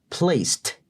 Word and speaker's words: placed: Entonces, ese ed al final se pronuncia como T de tomate, una T seca. Placed.